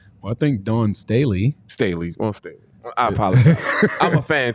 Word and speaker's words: Staley: What's your thoughts on the possibility of Don Stanley getting a head coaching job in the NBA? Well, I think Dawn Staley. Staley.